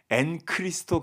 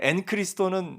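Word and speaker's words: ἐν Χριστῷ: 이름을 붙여 봤어요 그래서 엔크리스토 교회론 그래서 오늘 물론 이제 앤 크리스토는 헬라 발음이 그렇기 때문에 아마 아 많은 목사님들이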